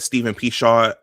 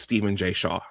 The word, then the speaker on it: Stephen J. Shaw: I think I said Steven Pshaw. I guess it's Steven J. Shaw.